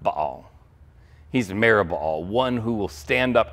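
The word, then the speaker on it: Merib-baal: His name when he was born was Merubbaal. Merubbaal. Now, if you see his name, you might call it Meribaal. That is kind of the maybe normal pronunciation, and maybe you'd recognize part of that.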